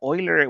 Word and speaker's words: Euler: And I know many people pronounce this uler. I think it's very common in the US. But Oiler was actually a German mathematician. So the correct way would be Oiler.